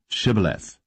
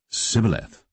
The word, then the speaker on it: shibboleth: said they unto him say now shibboleth and he said sybileth for he could not frame to pronounce it right then they took him